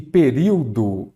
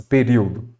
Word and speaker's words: período: Aqui, novamente, nós temos uma proparoxítona. Por quê? A antepenúltima sílaba é a tônica.